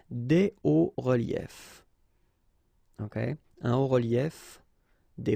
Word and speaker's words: hauts reliefs: it's quite simple, because S and S, but then we don't pronounce them here. Des hauts reliefs. Okay, un haut relief, des hauts reliefs.